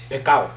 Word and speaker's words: pecado: Si no pronuncia la S, te montas en tremendo problema. No es pescado, es pecado.